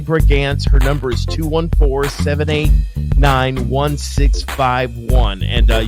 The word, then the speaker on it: Brigance: Again, her name is Sally Brigance.